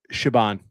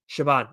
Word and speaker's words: Siobhan: Shabban. Siobhan.